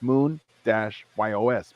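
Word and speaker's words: Muñoz: And they're pronounced Munoz because it's Moon-YOS, Munoz.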